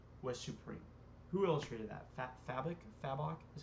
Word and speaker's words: Fabok: Fabok is how you say his last name.